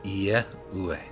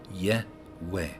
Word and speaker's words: Yahweh: all as one word, Yehweh, Yehweh. So that is why I say Yehweh. The Y-E, as in I-E, as in yet, if I was to write Y-E-T, it would be pronounced yet.